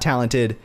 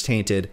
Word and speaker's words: Tainted: And then Tainted, not Talented, is still working away on his R91 assault rifle. So I guess I was actually saying his name wrong. It's Tainted.